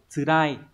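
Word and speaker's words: 辛い: Tsurai, đây đọc là tsurai các bạn nhé, có hai cái đọc là karai và tsurai, thì karai là cay còn tsurai là khắc nghiệt.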